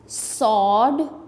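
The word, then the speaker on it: sword: सो see them सॉड सॉड में डब्ल्यू जो है यह साइलेंट है।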